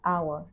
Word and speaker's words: hour: next sentence is an hour an hour now notice even though the word hour start with a consonant letter H but the H is silent in this case first sound is a